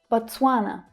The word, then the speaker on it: Botswana: Botswana, Botswana. So the stress here is on the second syllable, twa. So it's a little tricky thanks to all of those consonant sounds there. Twa, twa. Botswa, Botswana, Botswana, Botswana.